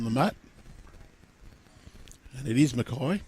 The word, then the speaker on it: McKay: And it is McKay. It's not a McKay.